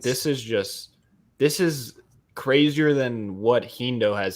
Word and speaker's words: HEENDOO: Like this is crazier than what HEENDOO has said tonight. Am I pronouncing that correctly?